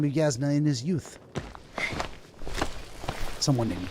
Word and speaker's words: Yasna: get out and walk anyway how do you pronounce her name yasna yasna is the name of my uh the